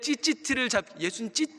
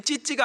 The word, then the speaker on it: 찌찌티: 이 여인이 그 옷자락, 그 옷단술, 그 예수님의 찌찌티를 이거 발음이 예수님 찌찌가 아니에요. 찌찌 잡으면 큰일 납니다.